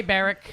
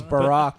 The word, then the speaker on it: Barack: always call it Barrick. Barrick. Yeah, Barrick it's Obam. Barrick Obam. Barrick Obam. It's Barack.